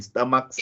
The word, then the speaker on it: stomachs: So the difference is in stomachs, it sounds as s. And what about dogs? The s in dogs, it sounds as what? Z.